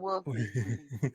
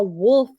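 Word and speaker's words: Wilf: That's but it's Wolf spelled, gang, but we call him Wolf. but it's spelled with an I, not an O.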